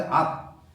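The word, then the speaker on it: 樂: 여기서는 악여이라고 읽어야 되겠죠. 악여이. 누구는 이걸 약이라고 하는 사람도 있는음 약 초가 붙어서 약 몸에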